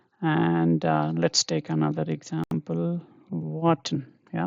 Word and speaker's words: warten: Okay, and let's take another example, warten. Yeah, warten is to wait, you're waiting on someone, right? Waiting for someone. So here this is wa, so wa 10, warten.